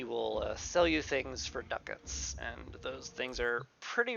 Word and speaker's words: ducats: be exchanged for ducats, and it is pronounced ducats. I thought it was pronounced ducats because that sounds fancier. But no, they're pronounced ducats, and I hate it.